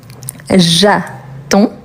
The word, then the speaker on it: j'attends: Donc, on a jaton. Jaton et attention D s à la fin DS. OK, jattend. Le DS on ne le prononce pas pourtant il faut les écrire.